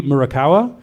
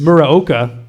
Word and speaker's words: Muraoka: Well, the original arcade music for Contra was composed by Kazuki Murakawa. Nice. Muraoka. I messed it up.